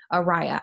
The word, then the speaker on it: Araya: going to be interviewing Araya I'm saying that right right Araya okay I just wanna make sure okay did have to tell me because I was saying Aria and she was like no pronounce my name wrong so so I'm getting